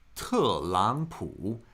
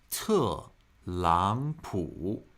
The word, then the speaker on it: 特朗普: Pronounced as fourth tone, second tone, third tone. When we have 2 consecutive third tones in a row, the first of the pair is pronounced with a second tone.